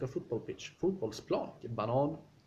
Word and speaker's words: banan: Banan, which means banana. But if you pronounce it banan, it means the track.